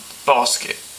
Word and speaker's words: Bossk: And if you're wondering why he's got such a weird name, Bossk, it's spelled B-O-S-S-K.